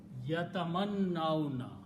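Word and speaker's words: يتمنون: And when you start pronouncing, you combine noon with the vowel, so yatamannauna.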